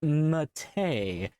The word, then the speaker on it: MATE: No, it's pronounced mate like the t yerba mate.